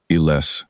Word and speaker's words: Iles: I made sure I said it the way she'd said it. The stress on the second syllable, the soft final vowel.